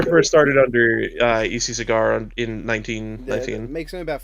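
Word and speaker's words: Segar: he signed an autograph he would sign his name with like a little cigar with a trail of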